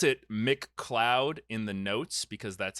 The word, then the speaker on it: McLeod: yes I spelled it Mick cloud in the notes because that's how it's pronounced but it is Scottish so his name is like m-c-l-e-o-d like the cloud right exactly so